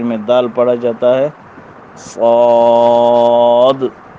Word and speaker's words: صاد: صاد تلفظ میں دال نہیں پڑھا جاتا، نام میں دال پڑھی جاتی ہے.